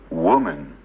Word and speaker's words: woman: woman, Nghe lại nè.